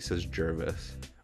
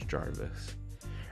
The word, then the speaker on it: Jarvis: Terry has a confessional about how Zach is Tyson, and he pronounces his name wrong. He says Jervis. His name is Jarvis. Or maybe I'm saying it wrong.